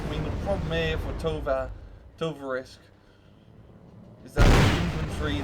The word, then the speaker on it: Tovarich: Tovarich. That's how you say it, Tovarich.